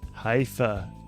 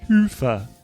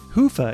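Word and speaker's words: Hyvä: friends talk Commerce is sponsored by hia or as the Europeans say hoofa or the right way to say it Hua is rapidly becoming the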